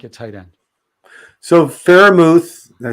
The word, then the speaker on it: Freiermuth: So Freiermuth, did I say it right? Yeah, Freiermuth.